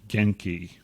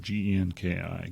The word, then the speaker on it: Genki: that came out was by a company named genki i think that's how you pronounce it g-e-n-k-i genki in 1999 this company was a part